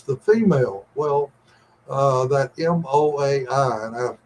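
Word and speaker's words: moai: final word is the female well uh that m o Ai and I it's pronounced MOA that this is something that's in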